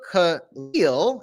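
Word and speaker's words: Kahlil: it so on thursday this um guy is kahil kha lil is how you say his name jew juran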